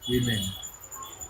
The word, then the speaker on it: women: উইমেন। আগে কেমন হতো? আগে স্পেলিংটা WOMEN ছিল না, উইমেনের স্পেলিং ছিল WYMEN, উইমেন, ওল্ড ইংলিশে। ওয়াই। হ্যাঁ, WYMEN ছিল ওল্ড ইংলিশে।